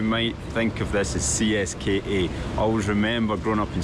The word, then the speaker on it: CSKA: But if you say CSKA here, people have no idea what you're talking about. They pronounce it Ziska.